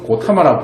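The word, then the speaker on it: Gautama: 고타마라고 왜 쓰냐면요, G-A-U-T-A-M-A 이렇게 써서 고타마라고 불러요.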